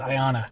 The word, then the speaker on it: Ionia: Uh one of the things we're thinking about doing is stopping at Ionia. Uh Iona, how do you say that? I think it's Ayanna. Ayanna. Thank you.